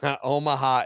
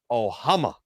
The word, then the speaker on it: Omaha: Milliken pronounced Omaha as Ohama. Like Ohama.